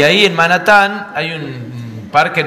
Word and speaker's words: Manhattan: La H no se pronuncia, entonces se dice Manhattan.